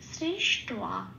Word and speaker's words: সৃষ্ট্বা: এইবার এটা টয়ের সাথে পড়ে দিলে কি হয় টোয়া, ঠিক সেই উচ্চারণটা হবে সৃষ টোয়া।